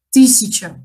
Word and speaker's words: тысяча: Во втором слоге буква «я», когда мы поем или когда мы говорим, этот слог «ся», он безударный, поэтому у нас произносится «си», «тысяча» мы говорим.